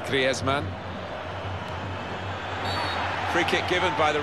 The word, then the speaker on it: Griezmann: Antoine Griezmann, who told us all before the World Cup how to pronounce his name properly. He's very much his Spanish background. Said he talks to his dog in Spanish and dreams in Spanish, so I think we can pronounce his name the Spanish way, Griezmann.